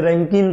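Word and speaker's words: Rankine: So some professor also pronounce this रैंकाइन cycle as ए रैंकिन cycle. तो कोई बात नहीं, एक ही बात है, रैंकाइन साइकिल, हम तो रैंकाइन बोलेंगे।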